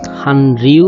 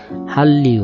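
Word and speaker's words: 한류: চিন্তা করুন তো এটার উচ্চারণ কি হবে, হানরিউ হবে নাকি হাল্লিউ হবে? উচ্চারণ হবে হাল্লিউ।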